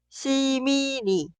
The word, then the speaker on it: 시민이: Pero si agregamos otra sílaba que inicia con 이응, en la pronunciación, la consonante final 니은 se traslada al lugar de 이응 en la sílaba posterior. Por eso suena 시민이, 시민이, 시민이.